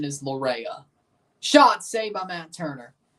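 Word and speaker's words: Laryea: pronunciation of Richie Laura's last name his angiz pronunciation is Lura shot save by Matt Turner he's F being called either but people just do the easy part say laa so and Hell GTH wheeler just calls him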